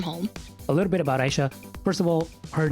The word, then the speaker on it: Aisha: The thing with my name is it's actually pronounced Aisha. It's not necessarily like the Arabic origin, even though it's like related to it, sort of. It's more like on the Urdu sense, where like in Urdu it's spelled Ya Ha. That's, if you put that together and you see that in Urdu, that's Aisha.